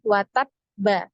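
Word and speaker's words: وَتَبَّ: ada pertanyaan seperti itu kenapa tidak langsung bacanya watab tapi watab ditahan dulu ya Nah ini karena di fqolah ya huruf yang huruf bnya ini ada tasdid ya ada tasdid ketika kita baca eh di wasal atau dilanjut disambung gitu kita bacanya kan watab ba gitu ya watab Ba ba maka ketika di sukun pun dia harus ada ee bunyi ee nabernya Nah itu namanya naber ya karena huruf-huruf hijaiah yang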